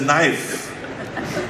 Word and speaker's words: knife: It's a knife. This is a knife." So the he says, "You don't understand it. You don't pronounce the K."